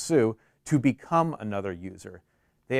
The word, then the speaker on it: su: the switch user command s u pronounced sue to become another user